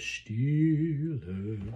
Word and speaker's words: Stille: When you go down to Stille, don't accent that last syllable. Just come off at Stille.